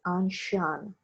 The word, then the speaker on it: ancien: to explain the term anshan regime remember the pronunciation is anshan it's a french pronunciation regime angshan means ancient